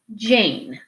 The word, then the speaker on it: Jane: a closed syllable word, so you would say Jan. As soon as we put this silent E at the end, your word changes to Jane.